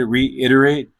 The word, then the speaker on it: reiterate: So when I said reiterate, my syllables were not clear. I didn't pronounce all four syllables clearly to pronounce this word.